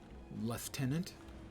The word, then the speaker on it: lieutenant: this champion liutenant I Lieutenant wow that was way higher than I was expecting that's my friend one more left tenant to use the British pronunciation zoa has revived our